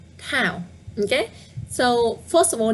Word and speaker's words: Thảo: The correct one is left. Thảo now. Yeah. I think twice is enough. The one I was pronouncing on the right hand side is tờ. It's stronger, you know. Tờ, Thảo. And the left one, Thảo.